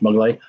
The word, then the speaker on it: Maglott: So, for those of you who don't know, Brad Maglott, spelt Maglott, but pronounced Maglott, is a jack of all trades.